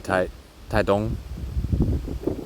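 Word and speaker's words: Taitung: Um, but yeah, I'm staying at this Airbnb right now in Tai Taong. It's T A I T U N G, but it's pronounced Tong for some reason.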